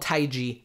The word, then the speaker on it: TaiG: just two letters xn and it is called taii that's the official pronunciation for it and again it was able